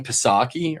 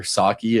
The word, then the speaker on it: Psaki: The Briefing with Jen Psaki, or Psaki if you don't pronounce the P.